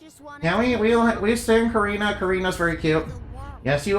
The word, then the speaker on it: Karina: Karina, yeah. It's not Corina. How No, Karina.